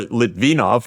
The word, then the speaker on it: Litvinov: And Litvinov, who we were discussing, or Litvinov, now that I know Right. how to pronounce it properly, thank you, Right.